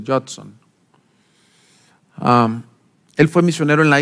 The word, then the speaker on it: Judson: Adoniram Hudson se escribe, pero creo que se pronuncia Judson.